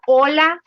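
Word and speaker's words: hola: to say hi it's Ola so the H is silent yeah your age Falls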